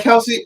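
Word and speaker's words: Kelce: Um, I can't pronounce that last name. Might go Kelsey." Is that Kelsey?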